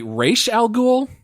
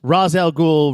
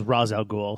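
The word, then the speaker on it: Ra's al Ghul: the the resident expert how do you correctly pronounce his name because I think in this game they say race al Ghul yeah they it it really because it's a comic it's it's Raz al Ghul Rachelle Ghul raise algol I've always pronounced it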